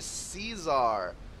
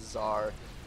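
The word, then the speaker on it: Czar: a Caesar if ah I mispronounced it again everybody has been really on my case about how I pronounce that and you guys are right it is Zar it is derived from a Russian word I would be sure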